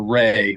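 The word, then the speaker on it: Wray: speech that FBI director Christopher Ray which is spelled WR a y uh he gave it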